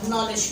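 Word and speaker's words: knowledge: अब ये देखिए कि यहाँ पर दो दो लेटर्स ऐसे हैं आपके जो साइलेंट करार दिए गए। नॉलेज, आप किनो डब्ल्यू लीडिश नहीं पढ़ते, क्या पढ़ते हो, नॉलेज पढ़ते हो।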